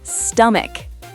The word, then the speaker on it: stomach: Sometimes ch sounds like C, especially in words from Greek. Wait, what? Give me examples. School, character, chemistry, chaos, stomach.